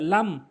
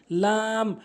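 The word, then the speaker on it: لام: এরপরে লাম ভুল উচ্চারণ, লাম ভুল উচ্চারণ, লাম সঠিক উচ্চারণ, লাম সঠিক উচ্চারণ, লাম।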